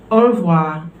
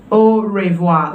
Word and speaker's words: au revoir: night bye-bye it is au revoir it's spelled o revoir okay but we don't say oh revoir like many would say so if you say